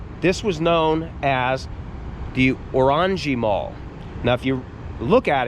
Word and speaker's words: Orangerie: was known as the Orangi Mall. Now, if you look at it, it looks like it would be Orangey Mall, but the prank the right way to say it is Orangi Mall. Orangji in in France meant